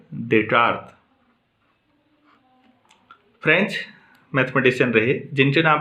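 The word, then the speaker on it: Descartes: डेकार्ट को आप ऐसे पढ़ेंगे, स्पेलिंग के हिसाब से डेस्टार्टेज जैसा लगता है, लेकिन क्या पढ़ेंगे, डेकार्ट।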